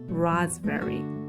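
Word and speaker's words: raspberry: 합니다 자 그다음 과일은 지금 스펠링은 r a b b e rry 아고 해서라 berry 일 거 같지만 요거 아시다시피 베리입니다 rasberry 자 그리고 이제 우리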